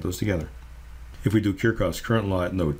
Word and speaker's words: Kirchhoff: I should also mention that in German, Kirchhoff is pronounced Kirchhoff. And you might hear it pronounced either way. The anglicized version of it is Kirchhoff.